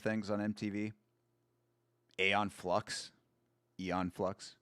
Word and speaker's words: Aeon Flux: Aeon Flux Aeon Flux, how it's actually pronounced.